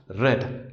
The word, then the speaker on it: read: Its past and past participle forms are spelled R-E-A-D but pronounced red, like the color red.